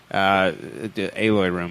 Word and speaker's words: Eloy Room: Aloy Room, I believe it's how it's pronounced, Dwight Burgess.